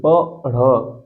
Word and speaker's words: पढ़: जोड़ेंगे प्रत्यय ठीक है अ नहीं प ढ़ पढ़ उच्चारण सही करेंगे तब होगा पढ़ के साथ प्रत्यय